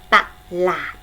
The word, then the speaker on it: ตลาด: ยก ตัว อย่าง เช่น คำ ว่า ตลาด สังเกต นะ คะ ตลาด พยางค์ แรก ออก ซิกอัพ พยางค์ ข้าง ล่าง ออก เสียง เหมือน นี้ หอ หีบ มา นำ ต่อ แต่ ว่า ขนม